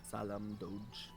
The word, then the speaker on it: Salem Doge: Salem Doge. Like salamander, but Salem and a Doge.